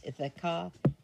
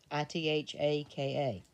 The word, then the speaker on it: Ithaka: I think it's Ithaka, Ithaka.